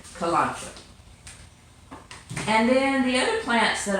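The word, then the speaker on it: Kalanchoe: not be any easier and that is a kalonzo plant and that is spelled ka LAN CH o e kolache and then the plants that I like are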